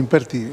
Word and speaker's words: Simpertigue: ¿Cómo se pronuncia su apellido? Tenemos la lista tilde, porque hay unos escritos que tiene tildes, la E, entonces sería Sí. Simpertigue. Es ¿Cómo? Simpertigue. Es Simpertigue, Sí.